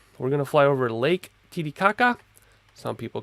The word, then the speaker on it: Titicaca: 39 years old so Lake Titicaca if you use a Spanish pronunciation although I read is titi kaka local dialect don't know that much